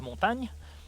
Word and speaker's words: Montagne: And yes, this is how you pronounce it. So everybody watching out there, that's French. Bonsoir. And second of all, yes, it is Montagne.